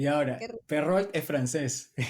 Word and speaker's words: Perrault: Y justo hablando de esto, de tanto de los Grimm, de Andersen, de Perrault, no sé si así se pronuncia. Sí, ¿por qué la mencionas con acento inglés? Perrault.